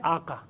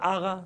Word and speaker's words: آقا: یہ ایسا نہیں ہے, یہ ہے آقا. لیکن کیونکہ ان کا زبان کا جو گلے کا جو تلفظ وہ نکلتا ہے آغا, تو کہتے ہیں آغا تشریف لائے, آغا بیٹھیے, وہ لفظ ہے آقا.